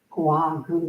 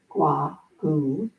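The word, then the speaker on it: Gou Gu: Another more contemporary Buddhist teacher is Gua Gu. That's spelled G-O-U-G-U, Gua Gu, is a Zen teacher from the Tallahassee um, Zen Center.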